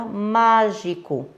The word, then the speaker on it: mágico: Como, por exemplo, a palavra mágico. Má é a sílaba tônica. Eu falei com mais força, com maior intensidade, certo?